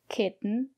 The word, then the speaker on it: kitten: o n for example kitten mitten written cotton button flatten and in this case we pronounce the letter t as a stop T put your tongue up and stop the air don't release the air